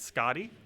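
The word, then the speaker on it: Skadi: Isn't it Scotty? Scotty sounds so wrong to me, though. Like, Scotty sounds like a male's name, whereas Skady sounds like a female's name. But I'm pretty sure Scotty's the way you're supposed to pronounce it. That always sounds incorrect to me, though.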